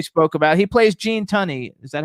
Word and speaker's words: Tunney: other film we spoke about he plays gene tunney is that how you pronounce his name honey t-u-n-n-e-y attorney there's gene